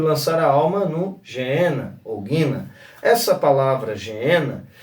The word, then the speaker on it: Geena: Depois nós vamos ver a palavra inferno como Geena ou Guina, Alguns interpretam ou mencionam a expressão Guina, mas se escreve ali Geena.